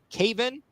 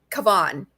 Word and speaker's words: Cavan: for Florida and Keegan Cavan for Tegan Cavan. It's Cavan. Okay, I got to get the emphasis on the right syllable. Yes, you had the wrong syllable.